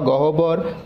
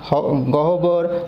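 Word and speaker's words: গহ্বর: দিয়ে শব্দ পেলাম, বিহবল গহবর আহ্বান। এবার এখান থেকে আমরা কি জানতে পারলাম, বফলাযুক্ত বর্ণ উচ্চারণকালে বফলার ব শুনতে পাওয়া যায় না।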